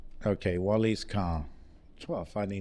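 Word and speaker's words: Wallyscar: Like Tunisia has manufactured, they've got a car called Wally's car because they know there's a problem with importing cars in Tunisia and how expensive it is to purchase a car, Okay.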